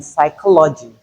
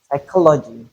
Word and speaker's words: psychology: position final position then in some words we can have the silent P as in psychology psychology receipt there's not receipt there's no P sound in receipt though we have the letter.